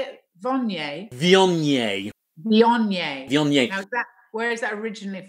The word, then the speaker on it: Viognier: Viognier.